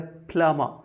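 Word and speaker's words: plumber: डिय learner ये है प्लामा यहां पे भी बी सॉरी एम का सॉरी बी का साउंड नहीं माई य लन प्लामा प्लामा वो व्यक्ति होता है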